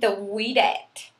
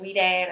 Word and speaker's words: Ouidad: is called I think the weed at and that o u i d a d and I think it's pronounced like we dad or something like that I thought it was